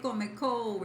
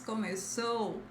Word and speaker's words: começou: Don't say comecou, it's começou.